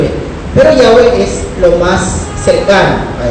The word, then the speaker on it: Yahweh: Los expertos en gramática hebrea dicen que lo más correcto es Yahweh. No con doble V final, sino con una V suave. Yahweh.